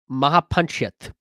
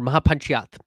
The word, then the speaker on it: Mahapanchayat: On February 11th, they had the first Kisan Mahapanchayat, or Mahapanchayat, I think is how you would actually pronounce it, or the Great Local Farmer Gathering.